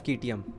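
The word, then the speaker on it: Citium: इसके फाउंडर का नाम था ज़ीनो ऑफ कीटियम, कभी कभी ज़ीनो ऑफ सीटियम भी बोल देते हैं, प्रोनाउंसिएशन अलग अलग है।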